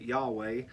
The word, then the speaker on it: Yahweh: We try to say it Yahweh, but that's even adding vowels into the Hebrew consonants because it's just a name that they did not pronounce because it was so personal.